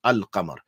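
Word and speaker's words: القمر: When it is hurufi qamariya, like al-qamar, then the lam is pronounced al-qamar.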